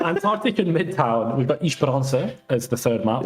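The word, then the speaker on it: Esperança: We've got Ishparansa as the third map. I am slowly continuing every BPL season the pronunciation agenda of Isharansa.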